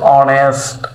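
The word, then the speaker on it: honest: উজয়েটা কি এখানে উজ্য এখানে উজ্য রয়েছে অনারেবল অনেস্ট আওয়ার দেখেন অনারেবল এখানে আছে আওয়ার অনেস্ট এই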